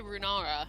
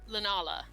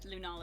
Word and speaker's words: Lunala: I keep going to say Runara because my brain is mush. Lunala is how you say that. Lunala in the Pokemon, back.